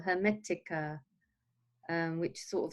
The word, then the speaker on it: Hermetica: No, it's Hermetica.